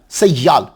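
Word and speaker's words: سیّال: تو ایک لفظ ہوتا ہے سیال، یا کے اوپر شد، یہ عربی زبان کا لفظ ہے، مبالغہ کا صیغہ ہے،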